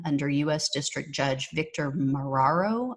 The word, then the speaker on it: Marrero: u.s district judge victor mararo i believe is how you pronounce it marrero he just ruled yesterday